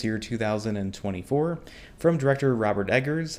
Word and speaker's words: Eggers: 2024, from director Robert Eggers. I think that's how you pronounce his last name. Is that right? Yes. Okay, just checking that, just making sure. It's like he's egging your house, yes.